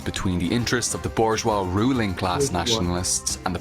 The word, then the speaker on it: bourgeois: But you say bourgeois. You never pronounce it with the S, of course.